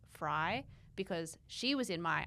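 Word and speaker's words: Frei: It's spelled like Frey, but it's Fry because she was in my Argentina show.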